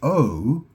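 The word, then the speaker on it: eau: You know, that's a really tricky word there because in French O is which is spelled E A U.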